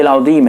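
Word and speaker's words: العظيم: ایک مسئلہ بتا دوں، رکوع میں جو سبحان ربی العظیم ہے تو ضا اگر آپ صحیح سے نہیں تلفظ کر پا رہے ہیں، سبحان ربی العظیم یا سبحان ربی العظیم زا پڑھتے ہیں یا جیم پڑھتے ہیں، نماز آپ کی ختم ہو جائے گی، فاسد ہو جائے گی۔ اسی لیے آپ اگر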